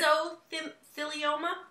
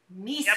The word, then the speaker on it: Mesothelioma: Mesothelioma? Mesothelioma. Meso. Yep. Like miso soup.